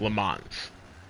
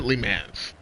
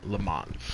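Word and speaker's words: Le Mans: Some people pronounce it leans, but in the world of action sports and racing, lemons.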